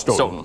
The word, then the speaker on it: Stoughton: It's pronounced Stoughton.